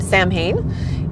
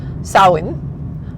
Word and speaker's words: Samhain: that we are used to, it is not pronounced Sam Hayne. It is pronounced sawin which um most people will say sa s o w like yay I win.